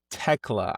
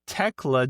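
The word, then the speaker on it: Tekla: No, Techla. I'm sorry, I keep pronouncing the H. Techla defeats Chris Statatlander.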